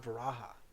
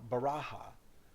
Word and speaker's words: varaha: say varaha or lord varaha so that in tibetan buddhism in naples and nepal they say bhairav i mean they say uh baraja instead of varaha so they use the b for the v instead so here um